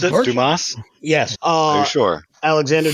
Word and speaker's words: Dumas: I know you're right is that how you pronounce it Dumas yes uh you sure Alexander Dumas yes I am exceptionally sure on that but